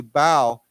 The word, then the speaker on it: bow: This word B-O-W, bow, can also has a completely different meaning, and it's pronounced in a different way.